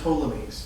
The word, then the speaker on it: Ptolemies: the p but but the p is silent so you have the ptolemies and the nearest one